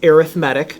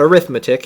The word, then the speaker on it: arithmetic: with arithmetic sequences now you pronounce this arithmetic not arithmetic even though it's spelled the same way and arithmetic sequence is